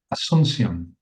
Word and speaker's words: Asuncion: And I don't know, do you know how to pronounce Jensen's last name better than I do, David? Asuncion.